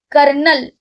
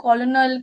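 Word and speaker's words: colonel: often that is often not often it's often कर्नल sorry कर्नल हां इट इज़ नॉट कॉलोनल कर्नल anything it इज़ कर्नल कर्नल फ इट्स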